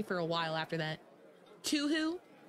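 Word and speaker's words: Touhou: I think I did too I forget how I pronounced it but it was so bad that people made fun of me for a while after that to who it's better than too oh my God too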